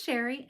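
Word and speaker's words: Chere: My name is Sherry, and that is spelled C-H-E-R-E. It is spelled a little fancy, but pronounced plain old Sherry.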